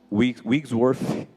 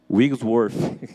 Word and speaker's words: Wigglesworth: Wigglesworth. Wigglesworth.